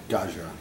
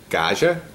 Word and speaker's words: Gaja: the sauce and I don't know how to pronounce that say it again gaja is the vineyard gaja yeah cand is the oh is the Style